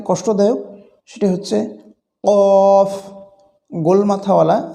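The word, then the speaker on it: ك: আরেকটি যে হরফ রয়েছে সেটি হচ্ছে কাফ এটি উচ্চারণ একেবারেই সহজ কাফের উচ্চারণে যদি মাখরাজ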